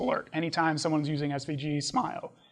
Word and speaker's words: SMIL: do you pronounce this I thought it's called siml but it's pronounced smile and this actually animates inside of your SVG